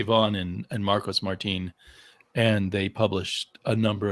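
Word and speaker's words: Martín: by ed brubaker and marcos martine i think is the way to pronounce his name and just us americans would say martin and his wife who's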